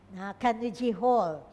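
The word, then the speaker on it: Carnegie Hall: Yeah, that's how they pronounce it. I just checked. Kanuji Hall.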